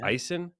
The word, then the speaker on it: Issen: that I didn't even get to check the pronunciation of your last name I'm just calling you Ben so is it bison yeah it is wow perfect okay Ben Eisen is the founder of super creative Ben is